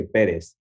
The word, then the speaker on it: Perez: My last name, you say Perez. Okay, because my cousin married a Perez. And really? Yes. And I say it like that. I always say Perez.